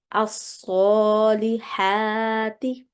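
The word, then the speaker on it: الصالحات: If you continue reading this in one go, you would say amilus salihati. Would you make a pause after amilu and start the second word with the alif, which is a blank alif currently, but as you are going to start as a new word, then you would say as-salihati.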